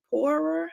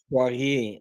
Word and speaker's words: Poirier: Jay, is it Poorer? How do you say her name? Poirier, she's a French woman. Oh, there we go. Yep, she's a French Canadian woman. Say it again. Like Portier, but Poirier. Poirier.